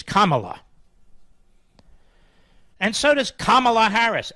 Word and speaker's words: Kamala: so does come on what how do you pronounce Harris's first name Kamala Kamala it was Kamala now she's running for president it's Kamala and so does Kamala Harris and same with